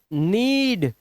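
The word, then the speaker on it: need: दिखाई दे रहा है आपको, तो इसीलिए ये साइलेंट है। तो इसे सिर्फ पढ़ते हैं नोक, नीड, नाइफ, नो।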